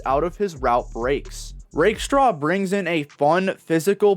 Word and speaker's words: Rakestraw: had to learn that I'm pronouncing his name wrong as I used to pronounce it Rackstraw.